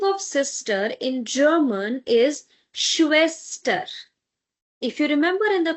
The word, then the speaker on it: Schwester: sister in German is schwester. If you remember in the previous session I've mentioned that whenever you have this together s say ha, then it will give you sure sound. So, Schwester. Now, because after s we